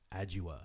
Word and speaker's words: Adjoa: I'm here with Adjoa. Yes, you There pronounced we go.